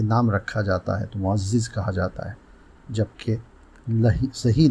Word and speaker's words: معزز: غلط بولا جاتا ہے۔ آج کا لفظ ہے معزز۔ یہی درست ہے، عام طور سے معزز بولا جاتا ہے، یہاں تک کہ ناموں میں بھی جب یہ نام رکھا جاتا ہے تو معزز کہا جاتا ہے، جبکہ